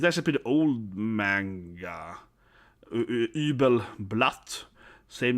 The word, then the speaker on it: Übel: This is pronounced with a Y in German, if you didn't know that. So, this is not you, like Übel. This is not Übel, it's Übel, Y, like a Y. But you say, but not like an E in English. So, the way you pronounce Y, right, in German is Y, like that.